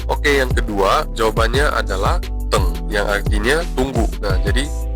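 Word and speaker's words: 等: Oke, yang kedua jawabannya adalah teng yang artinya tunggu. Nah, jadi teng ini D E N G, tapi ingat D dibaca sebagai T. Jadi dalam pengucapannya itu T tambah E N G. Jadi teng, ya artinya tunggu.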